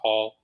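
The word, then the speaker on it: Hohl: first name and then my last name is h-o-h-l pronounced Hall so my Instagram is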